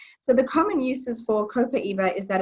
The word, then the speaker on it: copaiba: cool I have one two yeah so we pronounce this copaiba it's very versatile and it's actually great smelling